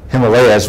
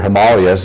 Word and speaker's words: Himalayas: do some research with the villages in, well, Himalayas, we would say here, Himalayas is how you pronounce it there.